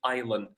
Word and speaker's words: island: While Ireland with an S where the S is not pronounced is a any piece of land that's surrounded by water.